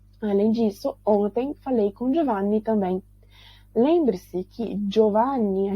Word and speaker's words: Giovanni: Além disso, ontem falei com Giovanni também. Lembre-se que Giovanni a gente não pronuncia Giovanni, porque G-I-O em italiano, G-I-O, a gente pronuncia Gio, como se fosse um D-J-O em português, tá?